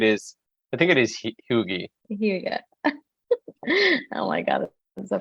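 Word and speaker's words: hygge: that adds to the hega or happiness I'm that's pronouncing that right he I thought it was hooie like Huggy like the diapers no I'm totally kidding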